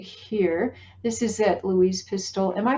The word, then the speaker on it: Pistole: this is that louise pistol am i pronouncing your last name correctly yeah pistol the e is silent it's louise pistol exactly and that that